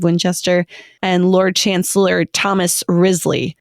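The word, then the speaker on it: Wriothesley: and Lord Chancellor Thomas rizzly which is spelled w r IO t h e s s l e y these names are hoot Grizzly so even though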